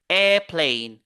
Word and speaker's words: airplane: le premier mot qui est là airple regardez airplane on va pas dire aire non airplane newspaper